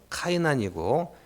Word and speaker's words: 게난: 자, 영어로는 카이난이고 헬라어도 카이난. 그런데 히브리어는 게난이에요.